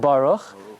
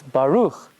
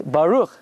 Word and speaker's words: Baruch: called up to Torah and they say they mispronounced every single word but it's not Baruch it's Baruch it's not Atta ATA it's not Hashem it's